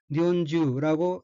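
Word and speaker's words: 日本中: 이와 같이 가운데 중자가 단어 끝에 붙어서 뭐뭐 동안 내내 라든가 뭐 전체라는 뉘앙스를 나타낼 때에는 그 발음을 치유가 아닌 주로 발음해야 합니다.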